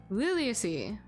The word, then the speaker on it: Liliaceae: I just want to search out how to pronounce a thing. Why is it not? Liliaceae.